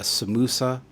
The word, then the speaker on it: samosa: has it's pronounced differently so instead of a samosa people would call it a samusa um you have quite